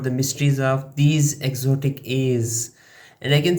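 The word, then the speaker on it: æ: Meet A, pronounced like the A in cat.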